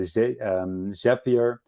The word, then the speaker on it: Zapier: can use with either Zapier, which is actually, I think, pronounced Zapier, not Zapier, because Zapier makes you happier.